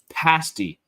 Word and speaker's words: pasty: Pronounced pasty.